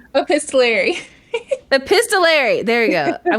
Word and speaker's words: epistolary: Epistolary.